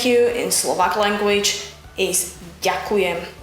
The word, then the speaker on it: ďakujem: The word thank you in Slovak language is ďakujem. Ďakujem. Ďakujem. Ďakujem. Ďakujem. Ďakujem. If the pronunciation of the word ďakujem is a bit